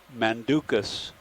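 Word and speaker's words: Manducus: saw a little while ago i mis uh pronounced it it's mandukas madarensis m a n d m-a-n-d-u-c-u-s is this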